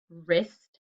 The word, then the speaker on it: wrist: sound er so it could be r w r or rh and the words are wrong wrist rhubarb and trophy and